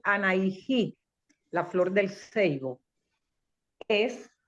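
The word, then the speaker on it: Anahí: Entonces, anaijí, aquí se escribe a N a h i y se lee anaijí, la flor del seivo.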